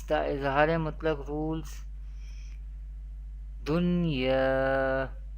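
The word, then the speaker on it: دُنْيَا: We pronounce the Izhar-e Mutlaq rule without Gunna in an Arabic accent. How do we pronounce? Dunya, Bunyanun, Sinwanun, Qinwanun.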